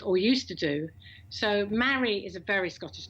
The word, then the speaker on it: Mari: You know, oh, you mean Marie? No. Anyway, so Mary, because it's a bit unusual. So, or they say Mari. No, Mary, rhymes with Harry.